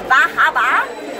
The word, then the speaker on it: Bar Harbor: My name's Gigi Edgley here, and I'm here at Bahaba Comic Con. Is that how you say it? Bahaba.